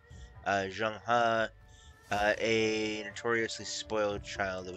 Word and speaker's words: Zheng He: I must serve under the Emperor's nephew, Admiral Jin He, a notorious, spoiled, I think it's actually pronounced supposed to be Zheng He, Zheng He, a notoriously spoiled child of a man.